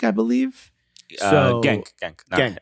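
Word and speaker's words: Genk: played with FY at Hank I believe gank gank I think it's pronounced Hank really yeah G's are H's um so at least that's the way it's been explained to me so again if I'm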